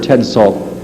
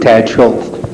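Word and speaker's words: Tad Szulc: Well, according to a 1976 article by award-winning reporter Ted Salt, I'm mispronouncing that, am I not? Tad Schultz. Tad Schultz, thank you.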